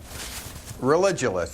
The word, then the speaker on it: Religulous: It's Religulous. It's like you're saying religion and then you go to ridiculous.